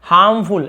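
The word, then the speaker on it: harmful: हार्मफुल, ऐसे हार्मफुल लिखा लेकिन आर थोड़ा साइलेंट होता है, हार्मफुल ऐसे बोलते हैं।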